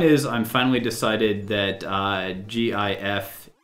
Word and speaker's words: GIF: I'm finally decided that gif is pronounced like the peanut butter and therefore I am